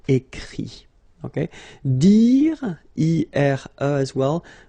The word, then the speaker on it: écrit: Remember that even if you've got this final t, you don't pronounce it, so it goes like écrit.